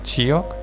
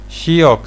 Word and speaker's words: Shiok: ¿Te agradecería, Chiok? ¡Chi! ¡No, Chi! Tienes que dejar pasar suavemente el aire entre la lengua y intentar pronunciarlo. Shi. Shiok significa chico en idioma gerudo.